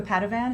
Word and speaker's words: Padovan: Oh, and you know who else is so wonderful on this is Luca Padovan. Is that how you pronounce his last name?